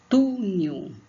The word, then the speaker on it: túnel: Túnel, túnel. Então, túnel, túnel. Então, tu, somente, a gente grifou tudo aqui, mas não é tudo, tá? Tu, somente o tu.